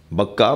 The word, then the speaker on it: بکہ: یعنی مکہ میں ہے بکہ مکہ مکے کا دوسرا نام مکے کا دوسرا تلفظ بکہ ہے صلوات پڑھنے ذرا